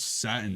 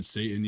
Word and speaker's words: Satin: They're just like, yeah, there was this band called Satin, Satan, and like that sticks with people. And that's how we people find it somehow- just keep spreading. People somehow say our name wrong.